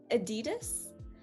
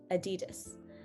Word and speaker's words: adidas: a hard one uh this next one is very um choicely pronounced uh the adidas so i i hear a lot of things there are a lot of underlying um pronunciation things that we need to take into account when we look at this word first of all the das as we talked about in our sounds of a video this d-a-s is very